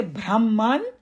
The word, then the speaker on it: Brahman: know four different so when we say Brahman so we should pronounce it Brahman that's all